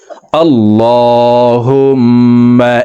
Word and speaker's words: اللهم: আল্লাহুম্মা, হুম এখানে ওয়াজিব গুন্না। এই লামকে ল বলে পড়তে হবে, কারণ আল্লাহ শব্দের আগের হরফে জবর অথবা পেশ হইলে এই লামকে ল অর্থাৎ মোটা করিয়া পড়িতে হয়।